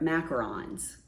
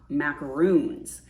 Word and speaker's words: macaron: get cover minders and they are macarons they're not macaroons macaroons are coconut based